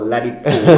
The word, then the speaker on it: Ladipoe: What amazes me is how, everybody credits you for being one of the best lyricists in Africa, and the name Poe or Ladipoe rhymes with poets.